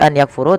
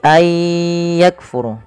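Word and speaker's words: أن يكفروا: Idam bunah maka Aya cara membacanya bukan lagi an yakfuru tapi Ay yakfuru Kaf huruf Kaf memiliki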